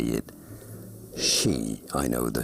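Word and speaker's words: sidhe: That is pronounced she.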